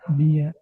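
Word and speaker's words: μία: eh, Por eso yo lo pronuncio como correcto. geis, mía, gen. Heis mia gen.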